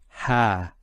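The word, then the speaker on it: ها: And it's pronounced as ha.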